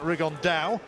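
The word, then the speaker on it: Rigondeaux: tattos talked about fighting rig on though or as he's correctly pronounced with the Spanish accent rig on Dao Chu absolute geniuses but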